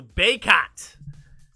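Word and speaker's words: Bacot: Baycott! That's how they say it.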